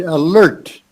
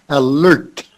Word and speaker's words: alert: and then the word alert uh you've got to get that make sure you get the t on the end alert alert in the word